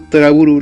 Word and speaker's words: To Love Ru: Hay un curioso juego de palabras entre el título de esta comedia romántica y la palabra Trouble, siendo Toraburu la pronunciación que dan los japoneses.